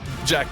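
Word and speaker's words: Jaq: It's pronounced. It is your turn. And then, I'm sorry, Jack.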